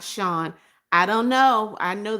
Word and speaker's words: Sean: Sean said, "Why is there so many people who say my name like Scene and not Shawn?